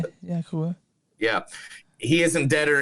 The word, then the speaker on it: Kaluuya: Daniel Kaluuya. Yeah, Is that how you say it? Yeah, Kaluuya.